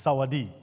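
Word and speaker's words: สวัสดี: word In tha for for hello is Saadi Saadi the S is silent there so it's Saadi and of course it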